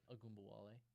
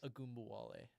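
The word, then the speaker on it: Ogunbowale: How do you pronounce it? Agumbawale. Ungumbalot. Oh my gosh, English is not working for me today. Do you need it one more time? Yes, one more time, please. Agumbawale.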